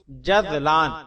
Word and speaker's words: جذلان: جواب: جزلان، اس کا صحیح تلفظ جذلان رال کے ساتھ ہے، اس کے معنی خوش